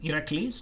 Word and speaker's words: Heracles: So Heracles is the Greek name, Heracles, as we would say it in modern Greek. And Hercules is the Latin pronunciation of that.